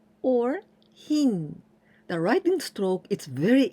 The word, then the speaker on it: 品: This kanji means products, goods, or items, and we pronounce shina or hin.